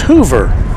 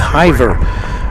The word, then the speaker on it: Hoover: It's Hoover. So I was going with Hiver.